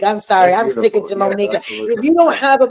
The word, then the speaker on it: Monika: So in Polish, we put, we pronounce is Monika, right? But in English, it's Monika. It's fine either way.